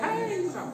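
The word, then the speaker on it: handsome: यानी कि देर piece हैंडसम dough silent मैंने कहा है कि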